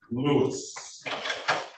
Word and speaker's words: Lewis: Now, Lewis. Did I get the pronunciation correct? You did. That's correct.